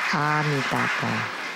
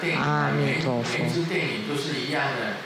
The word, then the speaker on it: Amitabha: But no, we are white and bright, so we should say Amitabha, Amitabha, Amitofo.